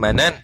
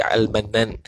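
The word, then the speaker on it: المنان: Dibacakan akan dia akan al-mannan itu bifathil mimi, dengan difathakan akan mim ataf wa tashdidin nuni, dan ditashdidkan akan nun. Itu cara baca al-mannan, bukan manan tapi al-mannan.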